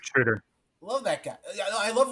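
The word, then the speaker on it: Schröder: I see what Dennis Schroeder, how do we pronounce his name? Schroeder. Yep, you're right, Schroeder.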